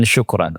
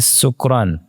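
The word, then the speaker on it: شكرا: singkatnya nanya ke saya coba ucapkan syukran bilang syukran dia ini sahih nih had sahih saya bilang ada apa itu kawan-kawan antum bacanya sukran dibilang sukran itu qorib min sukaro dekat ke lafaz sukara Di Quran kan ada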